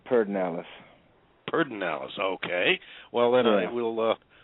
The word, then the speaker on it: Pedernales: spelled Pedernales, but in Texas we pronounce it Pedernales.